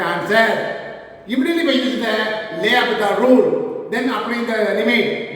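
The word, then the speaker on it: L'Hôpital: That's why by using l'Hopital rule, this is called L. The French word in L, apostrophe this is lay. Here, hospital. S is silent.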